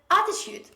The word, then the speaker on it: attitude: say attitude attitude so they put the stress on the last syllable on the pre-law syllabus they say attitude no this is not attitude the correct pronunciation of this word according to british accent bridge standard accent this is attitude attitude so the stress is at the beginning of the word a truth stay with